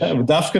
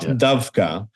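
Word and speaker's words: דווקא: We say Dafka and not Davka.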